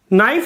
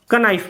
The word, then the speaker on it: knife: तो इसको तो वो काइट पढ़ रहा था, इसमें उसे ज्ञान नहीं है कि इसमें के साइलेंट है, तो उसने इसको नाइफ ना पढ़ के कनाइफ पढ़ दिया।